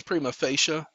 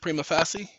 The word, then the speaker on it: prima facie: foreign ladies and gentlemen it's Prima facia and I I pronounce it prima facie prima facie case is